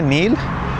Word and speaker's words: नील: Egypt के अंदर Nile river को बोला जाता है नील, और आई थिंक जब आप हिंदी में देखोगे तब भी अपन नील ही प्रोनाउंस करेंगे।